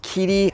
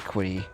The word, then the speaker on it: Qidi: is the little Cirrus from Kitty. I I read online how to say this. It's not a Q. It's not quitty.